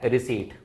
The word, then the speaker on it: receipt: उसको बोला जाता है रिसीट, RECEIPT। पी यहां पे क्या है? साइलेंट होता है।